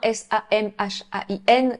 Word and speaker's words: Samhain: ce qu'ils appelaient la fête de Samhain, S-A-M-H-A-I-N, qu'on prononce en réalité en gaélique, Samhain.